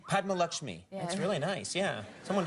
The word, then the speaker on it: Padma Lakshmi: so worried about butchering your name Padma yes Padma lakmi Padma lakmi that's really nice yeah someone just whistled at